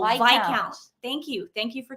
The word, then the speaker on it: Viscount: I say it wrong Viscount is pronounced without oh V count thank you thank you